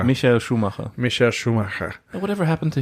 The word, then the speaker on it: Schumacher: How do you say that in German? Schumacher. Michael Schumacher.